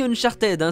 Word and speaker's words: Uncharted: sur playstation et wii on dit uncharted c'est ce qu'il ya de plus proche de la prononciation anglaise mais saviez vous qu'un